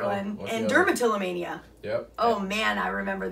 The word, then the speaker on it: dermatillomania: Dermatillomania.